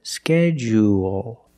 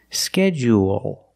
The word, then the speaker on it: schedule: Schedule one is longer schedule and it has an extra sound. It's not like pool and cool. It's schedule. There's an extra vowel there. Or you can make it short and say schedule. Schedule. Also, we notice the du making the J sound like in juice and jump. J schedule or schedule.